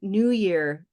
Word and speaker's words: New Year: so for example in New Year the phrase the two words is H is New Year right yeah but but the stress is on the first one okay what's interesting about